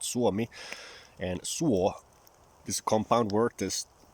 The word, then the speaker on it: Suomi: in Finnish is called Suomi, and suo is a compound word. There's two syllables. Suo is one word, mi is another word.